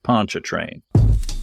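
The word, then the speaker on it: Pontchartrain: he gently corrected me was not actually pronounced like a French word by a person who thinks he can speak French but is of course pronounced Lake Poncha train we approached Vicksburg from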